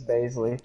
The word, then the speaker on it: Bazley: Traded for Darius Bazley. Or Baisley. How do you pronounce it? It's Baisley.